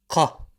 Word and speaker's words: ق: Pronounced qa, not ka. Qa, like a thick ka. Think of it as the sound that the chicken makes, the cluck.